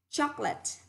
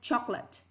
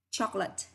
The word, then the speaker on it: chocolate: Chocolate, không đọc là chocolate, đọc chỉ có hai âm tiết thôi. Trọng thứ nhất, chocolate, chocolate.